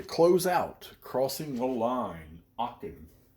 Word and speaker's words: Aachen: Aachen, 1944, as I was corrected by one of our European brothers, um, which I responded to. Amazingly enough, I lived over there 7 years and still can't pronounce that town name right. So us Americans, you know how we are. We like to butcher foreign names, so we call it Aachen because that's what it looks like to us.